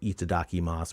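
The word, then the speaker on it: いただきます: the Japanese word so itadaki Mas would be like it D whatever you just read it like syllables e Dau and then you got to know stuff like that last youu is off like silent almost and some of the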